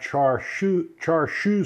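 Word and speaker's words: char siu: marinated it in a sauce that is called char char shoe sauce that i'm i hope i'm pronouncing this correctly i've got a friend david muller who will tell me whether i'm pronouncing it correctly or not because he speaks chinese so it's c-h-a-r-s-i-u sauce it's chinese barbecue sauce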